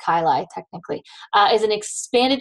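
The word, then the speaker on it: chyli: lymphatic duct the CNA kyi or sister a chaii it's pronounced kyai technically uh is an expanded chamber at the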